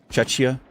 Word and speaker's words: Czechia: It's pronounced like Slovakia. So like Czechia. Czechia, like Slovakia.